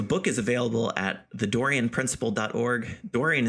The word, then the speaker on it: Dorean: Dorian is spelled Dorean.